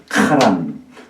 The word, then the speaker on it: 하란: 근데 사실 요거는요 발음하면 카에 가까운 하자입니다. 그 발음이 카란.